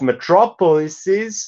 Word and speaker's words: metropolises: But metropolises, the plural is, of course, the final part of the word is lises, not les, not les, like if it were a Greek noun.